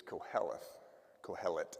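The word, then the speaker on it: קהלת: gets translated um as Ecclesiastes in Greek is calth calet that's how you pronounce it and that means teacher or preacher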